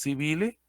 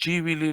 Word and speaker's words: civile: surge el jus civili o el jus civile, si lo leemos literalmente sería el jus civile. Jus civili lo pronuncian algunos, a nosotros la pronunciación